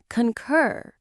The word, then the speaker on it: concur: Two simple parts. Concur. The stress is on the second part. Concur. It sounds a little bit like the purring sound a happy cat makes, but with a k sound at the start.